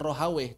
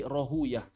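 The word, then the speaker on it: Rahwayh: Cara baca menurut ahli hadis. Roh rohuyah kayak sibawa sibuyah. Sibuyah. Karena menurut ahli hadis itu yang paling fasih bahasa asli Persia. Bukan rohaweh tapi rohuyah. Bukan sibaweh tapi sibuyah.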